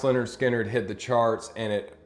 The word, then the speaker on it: Lynyrd Skynyrd: in 1973 pronounced leonard skinner hit the charts and